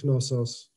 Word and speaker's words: Knossos: who knows to play also in greek it's knossos minoan and the labyrinth